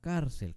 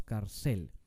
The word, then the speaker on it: cárcel: La palabra cárcel termina en consonante Sí. Entonces le vamos a poner acento escrito a la A, donde está el énfasis de la palabra, que esa es la penúltima sílaba.